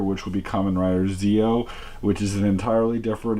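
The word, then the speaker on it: Zi-O: things for Kamen Rider Zeo, or Dio, as he's going to be otherwise referred to. The spelling is Zeo, but the pronunciation is like Geo, so just wanted to make that clear.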